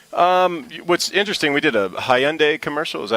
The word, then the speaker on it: Hyundai: What's interesting, we did a Hyundai commercial.